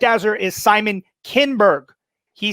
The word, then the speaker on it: Simon Kinberg: I didn't hear it, but he's admitting that he mispronounced the name. The correct answer is Simon Kinberg. He said Simon Kinsberg.